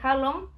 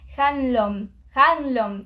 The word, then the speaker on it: Hanlon: Primero y principal, sabemos que Harlem, ¿se dice así el apellido? Harlem. Harlem. ¿Harlem? Bueno, chicos, yo lo voy a decir Harlem. Harlem. Me parece muy raro como lo estoy pronunciando. Hanlon. Ahí está.